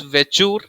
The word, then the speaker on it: Vechur: Pronunciation is almost same. It is Bachor, Bachaur, Bachor, found in Bihar. So do not confuse it. The spelling should be right. The Vechur starts with V and it is the smallest cattle breed.